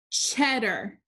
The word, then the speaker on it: cheddar: which syllable is accented this word is cheddar cheddar the first syllable is accented so the a r combination it's not in the accented syllable so it says er cheddar cheddar number four